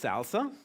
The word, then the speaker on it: SLSA: It's actually pronounced salsa.